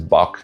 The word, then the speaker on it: Bach: It only survives in borrowed words like Bach or loch, which most English speakers just pronounce as bock and lock.